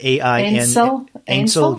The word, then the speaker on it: Ainsel: My Ainsel, I'm not sure how you pronounce that. Ainsel, yeah.